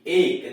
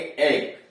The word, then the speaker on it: ache: जैसे क्रिज्म CHRISM क्रिज्म, ACHE एक, देख रहे हैं ना, AC के बाद H आया हुआ, यह व्यंजन है इसलिए इसको पढ़ेंगे एक।